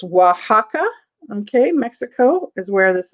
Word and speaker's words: Oaxaca: um from uh now you guys got the pronunciation of it it's oaxaca okay mexico is where this is from okay so this um beautiful beautiful black pottery vase is 24.